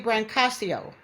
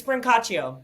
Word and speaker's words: Brancaccio: I I was going to say Brancasio. Close. It's Bronacio, but I understand why you why you pronounced it that way.